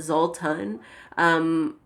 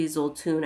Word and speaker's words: Xultún: a Guatemalan word um I see a lot of people call it Zoltan but I'm pretty sure it's supposed to be his old tune I think that's how you say it in Guatemala so um anyway who